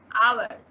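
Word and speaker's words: hour: एन आवर, यहाँ पे भी एच साइलेंट आ रहा है इसलिए एन लग रहा है।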